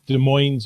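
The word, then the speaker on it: Des Moines: to a park at De Moes Marina and uh de MO is how it should be pronounced people here tend to put the S on it and I don't like that uh and there had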